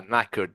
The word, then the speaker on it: knackered: Yeah, you are knackered, beginning with a K, K-N, like not Yeah.